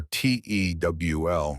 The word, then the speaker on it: TEWL: This process is called transepidermal water loss, or tewl rhymes with jewel.